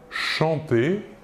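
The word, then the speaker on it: chantent: Nous voyons que la terminaison ENT de la troisième personne du pluriel ne se prononce pas, et donc nous prononçons la conjugaison du verbe chanter comme les trois premières personnes du singulier.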